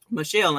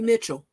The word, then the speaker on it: Michelle: said we accept it i don't be accepting people saying my name wrong i mean michelle ain't hard you know what let me not say that because the therapist i work with they always calling me mitchell n.o.t ain't no t